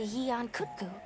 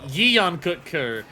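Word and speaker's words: Yian Kut-Ku: Alma very much stressed it as 2 syllables. She very much went Yeon Kutku, and then we went Yan Kutku.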